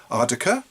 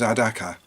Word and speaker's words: Adaka: Is it Ardaka? Ardaka? Ardakar? No, none of those. The nearest I can get to it is Adaka. It's a Fanti word from Ghana in West Africa.